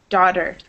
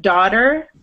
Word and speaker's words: daughter: So for words like daughter, listen to how I pronounce it. It almost sounds like this, right? Daughter. Daughter. But in British English, it would be like daughter. So it depends on if it's American or British.